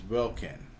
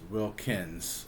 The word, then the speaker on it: Wilkin: The correct pronunciation of the name is Wilkin, but Samantha's father always says Wilkins with an S on the end.